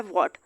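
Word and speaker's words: what: अब पहला वर्ड दिया हुआ है वॉट, यहाँ पे एच साइलेंट कर दें तो भी ये वॉट ही बनेगा।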